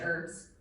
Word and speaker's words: herbs: not for the fresh herbs the soup would have lacked depth of flavor by the way Americans do not pronounce the h in that sound in that word but prti and Irish